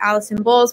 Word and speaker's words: Alison Bowles: things so it's just at Allison bowls which my name is spelled with one else of Al is o n Bo wles is my Instagram I do have